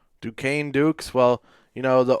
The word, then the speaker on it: Duquesne: Yeah, apparently it's pronounced Duquesne. Duquesne Dukes.